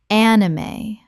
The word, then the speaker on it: anime: Kaizen Kaizen Word 212 anime Common mispronunciation an-i-mae or an-im Correct pronunciation anime Three syllables with the E pronounced at the end.